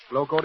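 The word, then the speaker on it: Glo-Coat: floor polish that requires no rubbing or buffing glow code is spelled g l o hyphen c o a t and by the way here's a reminder you save money by buying glow coat in the larger sizes remember just as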